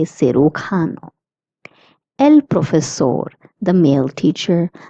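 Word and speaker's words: cirujano: J is pronounced as C. Hence we say Sukano.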